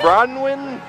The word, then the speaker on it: Bronwin: what's your name Bron what is it br bronwin how do you spell that b r o n w i n